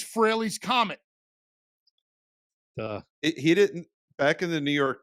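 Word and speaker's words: Frehley: out there to steal so you actually you you hear Ace pronounce his name correctly Rock soldiers off of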